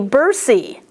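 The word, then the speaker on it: bursae: For instance, when you have an A and an E at the end of a word, 99% of the time, there is an exception always, 99% of the time, you only pronounce the second vowel.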